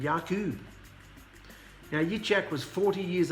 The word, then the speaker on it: Jacob: ethu and yakub or Jacob and Esau pronounced ISU and yakub now Yak was 40